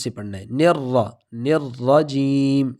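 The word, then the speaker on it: الرجيم: تلفظ سے پڑھنا ہے۔ نرجیم، ایسا نہ ہو جائے کہ ہم نیرا جیم پڑھ لیں، تو تشدید کی وجہ سے سختی اور جماؤ کے ساتھ پڑھنا ہے۔ نرجیم۔ آگے جیم، اس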